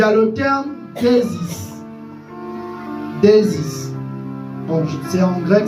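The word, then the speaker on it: δέησις: Il y a le terme déisis. Déisis. Donc c'est en grec, c'est pas c'est pas en anglais. Si c'était en anglais, je devais dire déisis, mais là c'est en grec déisis.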